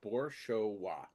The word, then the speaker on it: Boroa: much effort into it it's boroa boroa exactly as it's spelled it's now recorded and